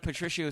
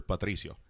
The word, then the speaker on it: Patricio: Well, no, you'd be surprised how many people butcher Patricio. Patricio. Well, I'm not you got to roll say that it R. like that. Patricio. Oh, yeah. You got to pop that R up.